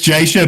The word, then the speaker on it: Jasher: Which is the correct pronunciation of your name? It's Jasher, but Jasher.